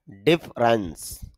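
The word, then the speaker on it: difference: ডিফারেন্স না ডিফারেন্স, এখানে ফ সাউন্ডের পরে আ সাউন্ড নেই, একজন ডিফারেন্স বা ডিফারেন্স বলা যেতে পারে।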